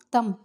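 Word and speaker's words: thumb: First one தம். இதை வந்து தம் அப்படின்னு ப்ரொனவுன்ஸ் பண்ணாதீங்க, தம் அவ்வளோதான். பி வந்து சைலண்ட், கட்டை விரல்.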